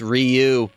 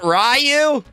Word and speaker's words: Ryu: At least Bison can pronounce Ryu. You mean it's not Rayu? It's not Rayu.